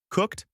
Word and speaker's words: cooked: Cooked with a t sound at the end, loved with a d sound at the end, wanted with a ed sound at the end.